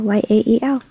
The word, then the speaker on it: Yael: but just at Yael, Y-A-E-L. How do you pronounce it? I say Yael. I know it's Yael.